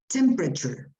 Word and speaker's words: temperature: first on the left normally this syllable in the middle disappears or if it it doesn't disappear it's it becomes much much softer so what you pronounce here is this temperature temperature i try to